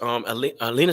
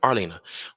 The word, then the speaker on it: Arlena: You know, so as hard as it is, and we once again, as Alina said earlier, it's sad. That's sad. Arlena, sorry, I mispronounced your name. Arlena.